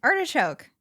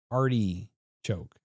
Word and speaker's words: artichoke: Artich choke. No, you're not. What's the other? You do this a lot with eye words. Arty choke. That's how you say it.